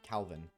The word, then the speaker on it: Calvin: Calvin. Not Yes. Not Kelvin. Calvin.